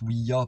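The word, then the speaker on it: Ouija: je fais une parenthèse ça se prononce ou ia pourquoi parce que c'est un allemand qui l'a inventé cette planche est en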